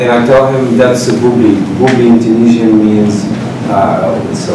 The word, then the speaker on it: Booblee: Booblee.